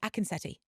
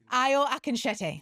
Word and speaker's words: Akinsete: Akineti. Akenete. Oh, if it was my mother, but it's but I can't be bothered to correct it. Let your mother down. IO Akenete.